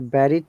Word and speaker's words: buried: Remember, bu here sounds e, not ba. This is one of the common mistakes of our pronunciation. I have heard many people saying buried, but it is buried rather than buried.